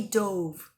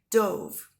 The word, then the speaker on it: dove: This little boy here, he dove, right? Dove. And then, of course, here is a dove. Dove. Now, they're spelled the same way, D-O-V-E. So, dove, dove.